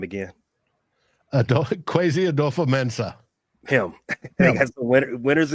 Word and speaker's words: Kwesi Adofo-Mensah: Pronounce his name again. Kwesi Adofo-Mensah.